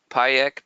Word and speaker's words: Pajek: free software, could you mention that again and spell it out? Pajek, P-A-J-E-K.